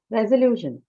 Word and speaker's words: resolution: Resolution. Resolution. Lu. Right? The syllable right before shen, right? So lu.